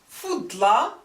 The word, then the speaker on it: فضلى: So here, هي أفضل or فضلى النساء, rhyming with فعلى.